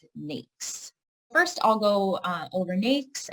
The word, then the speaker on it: NAICS: the North American Industry Classification System, or we pronounce it NAICS.